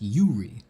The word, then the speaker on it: Yuri: It's pronounced Yuri. Oh, I was calling you Uri before, right?